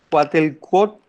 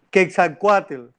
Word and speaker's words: Quetzalcóatl: hermosos trajes de cuat- eh, eh, ¿cómo se pronuncia? Eh, Cuatelcuot, ay, se me enredó. Quetzalcóatl.